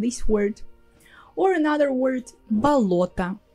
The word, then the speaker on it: болото: Or another word, болото. It's also similar, the same construction, but this time the о in the middle is stressed and the rest is а.